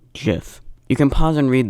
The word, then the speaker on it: GIF: defeat its purpose but the way I pronounce it is with a soft G GIF you can pause and